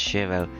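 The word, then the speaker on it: Shirou: Can you pronounce it properly? It's Shiro. Don't drop the U and pronounce it clearly.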